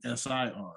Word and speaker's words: CIR: artist so um i i don't think his name is is pronounced sir i think it's c-i-r he said that a couple of times in the song he did uh but in parentheses it was spelling s-i-r so oh really that usually that usually means the pronunciation is sir okay okay if you